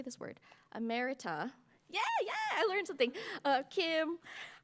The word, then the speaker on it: emerita: Ammerita.